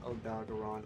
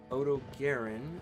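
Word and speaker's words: Odogaron: By the way, guys, if you didn't know, it's called Ebony Odar, not Odagaron. I've heard many people say Odagaron and I'm like no that's not how you spell it. The emphasis is in the wrong part of the name. Odo gararin, not oagaron cuz uh odo is not o dog.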